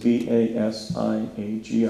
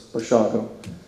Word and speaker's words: Basiago: And I said, B-A-S-I-A-G-O. And he said, well, that's kind of unusual. Wouldn't that be pronounced Basiago? And I said, no, it's Polish, it's slurred, it's Bashago.